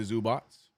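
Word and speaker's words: Zubac: That's such, the way his name is pronounced, and it's none of any of that, Ivica Zubats, none of that is in the spelling of his name, bro.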